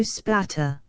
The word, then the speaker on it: Aspatria: until it appeared that the honest English pronunciation of that Cumberland country shortened aspatria into spatter after this supplementary Discovery